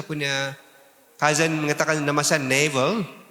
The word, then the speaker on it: Naville: My one cousin calls me Navel. Saya punya cousin mengatakan nama saya Neville. My name is really French, so the real pronunciation is Neville.